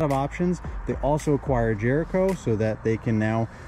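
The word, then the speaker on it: Jrco: attachments for mowers called Jr Co Jericho for you know lack of a better way to pronounce that most people call it Jericho but they make a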